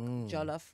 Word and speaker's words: jollof: year ago I started cooking African food like jollof rice I don't know if I'm saying it